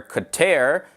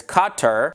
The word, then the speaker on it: Qatar: And some of the common ways of pronouncing it are Qatar, and then there's Qatar, Qatar, Qatar, and Qatar. Like, I mean, really, like, when you go to different parts of the world, like, people pronounce it differently, but they're all correct, okay?